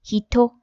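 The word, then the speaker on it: 人: The kanji for person is pronounced hito.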